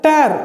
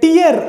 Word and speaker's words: tear: ஒரு இடத்துல நீங்கள் இதை டேர் அப்படின்னு சொல்லிட்டு நீங்கள் உச்சரிக்கலாம்.